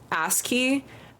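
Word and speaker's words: ASCII: actually go into a coma you can just pronounce ask key ask key ew it's like an ass oh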